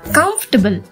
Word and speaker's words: comfortable: That's not comfortable or comfortable or dining table. You have to pronounce it comfortable.